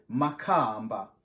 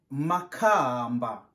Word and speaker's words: Makamba: On prononce Makamba. Tu prononces avec moi Makamba.